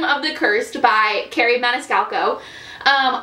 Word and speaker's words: Maniscalco: by carrie maniscalco um i've always been saying her name wrong by the way in every previous video video in every previous video i say carrie menescallo i did not know there was another c um but here we